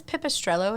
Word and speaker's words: Pipistrello: So is this Pipistrello?